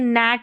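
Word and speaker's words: gnat: तो ये नैट पढ़ा जाएगा। गैट नहीं पढ़ेंगे। यहां पर हमारा जी साइलेंट है।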